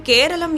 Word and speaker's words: கேரளம்: ஆனால் ஆங்கிலேயர்கள் தங்கள் உச்சரிப்பு வசதிக்காக கேரளம் என்ற பெயரை கேரளா என மாற்றினர்.